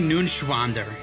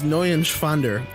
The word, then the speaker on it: Neuenschwander: Anthony Nunschwander. You didn't pronounce it right. That's up. Anthony. Anthony Nunschwander. It's N-E-U-E-N. It's Neuenschwander.